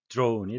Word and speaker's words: drone: 발음은 영어의 발음은 이중모음, drone이 되겠습니다.